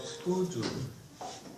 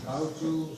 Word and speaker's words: skuju: We have a term in Haida called skuju. Skuju. Kauju, sometimes people pronounce it that way.